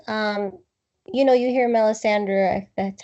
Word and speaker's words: Melisandre: well only because um you know you hear Melisandre that's how you pronounce her name you know talk about bringing